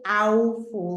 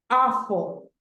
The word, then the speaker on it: awful: next one we have awful we don't say aul no awful so let's see if